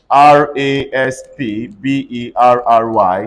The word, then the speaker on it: raspberry: which other example covered c-u-p-b-o-a-r-d everybody say cupboard r-a-s-p-b-e-r-r-y say raspberry what are the example empty not